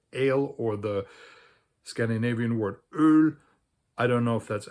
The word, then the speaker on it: öl: It's just spelled a little bit differently depending on which language you're talking about, and it's pronounced öl.